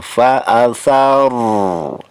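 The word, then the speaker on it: فأثرن: Fa'athar, ro, di situ ada huruf ro ya, ro sukun. Ini dibaca tafkhim, artinya tebal. Fa'atharna, ya. Fa'atharna bihi. Jadi ro-nya harus dibaca tafkhim atau tebal.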